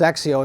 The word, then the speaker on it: XXIO: He goes, well, it's spelled XXIO, but it's pronounced Zexio.